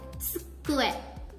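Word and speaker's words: 机: Jadi ucapkan tsu. Tsu. Jadi ditahan di sini suaranya. Oke? Jadi di sini suaranya. Jadi saat pengucapan tsu. Tsu. Oke? Tsukue.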